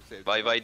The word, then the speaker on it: Weibo: Weibo ya. Bay bay diye okunuyor.